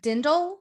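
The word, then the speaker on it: Dirndl: Whoa, Okay, a I am dindle? obsessed. Yes, there is obsessed an with R this in the outfit. word, but I'm pretty sure the R is silent, so it's a dindle.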